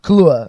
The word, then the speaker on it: Kaluuya: Kaluuya, yeah. Obviously. It's a lot easier to pronounce, I think, than it looks.